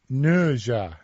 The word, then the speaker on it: Ne Zha: Do you know about NeZha 2? How do you pronounce it? NeZha, as as evidenced in the trailers.